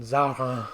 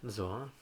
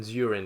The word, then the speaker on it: Zarin: What is the French pronunciation of your surname? Zoran. Zorin, yeah. But everyone calls you Zarin, don't they, here? Pretty much. Do they? Better than Zurin, yeah? Zurin? As in, like, urine? Yeah, exactly.